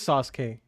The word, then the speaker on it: Sasuke: The U is silent. Oh, so it is Sasuke.